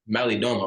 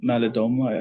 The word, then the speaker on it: Malidoma: I think how you pronounce it, it's Malidoma, right?